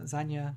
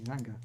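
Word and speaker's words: Zynga: yeah, and in other news, Zanya was sold for £11 billion. Zanga. Yeah, Zanga? Zanga. I don't know how to pronounce it. Yeah. Oh, Zanga. Sorry, I missed out the G. Zanga.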